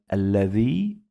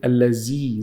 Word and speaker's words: الذي: Dhal is when you get your tongue out. Don't say allazi. Z is wrong.